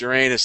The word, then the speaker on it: Uranus: know it's an Americanism if you look in the encyclopedia if you're looking at any pronunciation guide its Uranus that's the it's the name of a Greek and Roman God and that's the correct way so many people do